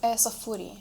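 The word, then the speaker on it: Saffuriya: In your bio, your Instagram bio, you mentioned Safura. I am Am I pronouncing it right? Safuri. Safuri.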